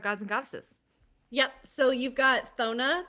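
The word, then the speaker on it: Cethona: yep so you've got thona that's how i say her name it's c-e-t-h-o-n-a it's possibly kathona but i just give her a silent c um vona is the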